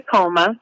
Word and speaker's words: Akoma: Akoma, right? How do you pronounce that? Yep, it is the Akoma.